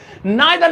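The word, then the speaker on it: neither: बड़ा आ गया ये, नाइदर नॉर, ठीक है, या नीदर नॉर। देखिए अलग अलग प्रोनाउंसिएशन अलग अलग कंट्री के बेस पर डिपेंड करती हैं, इसे नीदर नॉर बोलेंगे हम इंडियंस, नीदर नॉर।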